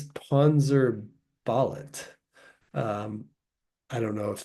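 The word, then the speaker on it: Panzerballett: Now, I thought this band name might have been pronounced Panzer Ballet at first, like ballet, the dance style, but there's an extra T at the end. So I'm pretty sure it's Panzer Ballet.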